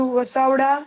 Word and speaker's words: Vasavada: VASA, VASU नहीं है, VASA, VADA. Vasavada. Come on, start reading.